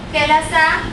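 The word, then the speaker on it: ಕೆಲಸ: I do work nanu kelasa maduttene.(t is pronounced as in tibet) what is kelasa? kelasa means work. kelasa means work. I have written kelas in kannada but pronouncing it as 'kelasa' This is as per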